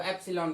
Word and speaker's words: epsilon: Okay, इसको सीधा सीधा एप्सिलॉन, तो EPSILON इस तरह से आप इसको प्रोनाउंस कर सकते हैं। तो एप्सिलॉन कह दिया, और ये क्या कहलाया, permittivity of medium, that medium.